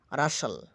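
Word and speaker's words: rustle: আচ্ছা, শব্দস্থিত এসটিএল এর উচ্চারণ হয় সল, টি অনুচ্চারিত থাকে, অনুচ্চারিত থাকে। যেমন বাসাল, বাসাল, অতিশয় কর্মাবস্থা। রাসাল, খসখস শব্দ।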